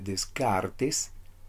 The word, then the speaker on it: Descartes: la edad moderna también rené de kart si gustas puedes pronunciar como sean e descartes filósofo y matemático francés presentó